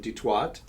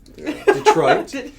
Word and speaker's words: Detroit: police officer originally from the great city of detwat detroit michigan that's a mispronunciation that's the way many of my detroit